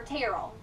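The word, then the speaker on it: Terrel: on Facebook go to Terell Haven of Hope or tarell tarell Haven of Hope and tarell is spelled t e r r e l okay so if you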